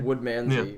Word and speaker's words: Woodmansey: I will figure out how to actually pronounce his name correctly. Mr. Woodmansey. Yeah, no, you're right. You're right. It's Woodmansey. Yeah. Woodmansey.